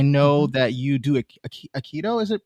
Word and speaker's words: Aikido: And I actually want to transition again because I know that you do a Aikido. Is it pronounced? Aikido. Mhm. Aikido.